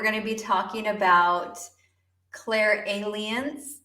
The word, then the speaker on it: clairalience: to be talking about Claire aliens and yes apparently that is how you say it or some people say